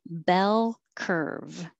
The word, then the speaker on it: bell curve: like her f 13 bell curve so remember remember to hold your tongue in the l position longer for the final l in bell so that it can